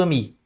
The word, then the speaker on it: ami: Mas a pronúncia é tudo ami.